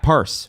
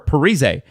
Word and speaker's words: Parise: and they used to they used to say his name wrong in the video games Zach parse or Parise for the rest of us um we don't know